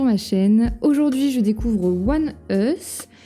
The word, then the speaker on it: ONEUS: Aujourd'hui, je découvre One Us qui se prononce comme ça si j'ai bien compris ce que ce que vous m'avez écrit en commentaire.